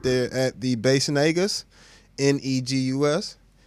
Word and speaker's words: Negus: Of course, the screen name's right there at the Bassnegus, Negus. It's pronounced more as an A than an E, Negus, type of thing.